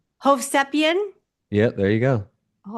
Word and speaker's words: Hovsepian: Hovian. Hovian.